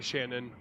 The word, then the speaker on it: Shanann: say it again sh shanan shanan okay sorry yeah that's okay everybody says it wrong say Shannon she was with her